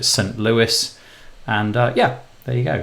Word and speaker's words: St. Louis: Louis I always want to say some low E but I'm pretty sure you pronounce it st. Louis and yeah there you